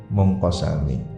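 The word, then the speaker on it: مُنْقَسِمِ: Munazzahun an syarikin fi mahasinihi wa jawharul husni fihi ghairu munqasimi. Ada yang membacanya munqasami. Yang masyhur di sini munqasim. Munazzahun, tersucikan, disucikan, dijauhkan.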